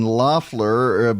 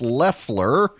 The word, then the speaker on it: Loeffler: now I've been saying Loffler but it is pronounced Leffler and she made her